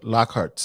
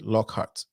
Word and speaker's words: Lockhart: dessert so thank you so much um dr lockhart um i'm i'm i hope i'm pronouncing the name correctly lockhart am i correct okay okay this one you